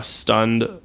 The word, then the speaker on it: Stund: stunned in' and so i just shortened the en off it and made it a word one syllable rolls off the tongue it's a word yeah